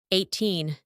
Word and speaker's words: eighteen: Eighteen, 18. Do you remember? Secondary syllable is stressed.